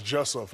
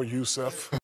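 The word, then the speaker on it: Jusuf: J-U-S-U-F is Jussef, not no Yusef. J-U-S-U-F is Jussef, not no Yusef.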